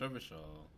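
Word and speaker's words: Revachol: I'm a good influence revision is pronounced rubber shawl okay these barrels are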